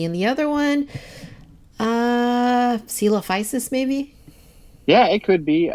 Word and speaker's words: Coelophysis: I mean I think coal faces or is it Coelophysis or coal prices Coelophysis it's Coelophysis okay I just gotta I gotta try to pronounce it like sealers yeah yeah okay um